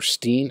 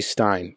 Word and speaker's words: Stein: Stein or Steen Stein it's got to be Stein because I think you pronounced the second letter of the E Andi combo when it's like German right or something like that so it's Stein it' be Bill Stein